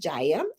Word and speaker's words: Jaya: you guys this is jaya her name is pronounced jaya and she is a 17 year old hip